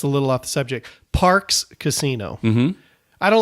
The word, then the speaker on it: Parx: It's just because in my head I see Parks and I think P-A-R-K-S. Yeah. And it's pronounced the same, correct?